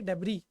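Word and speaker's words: debris: ठीक है, इसका प्रोनाउंसिएशन होता है डेबरी।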